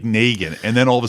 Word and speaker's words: Negan: When you only have read it and not know how it's pronounced, the character of Negan, everybody that read the comic before it came out thought it was Negan. Yeah. Because it's spelled like Negan.